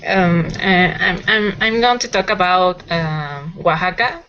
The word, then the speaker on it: Oaxaca: Oaxaca. OA is a W sound.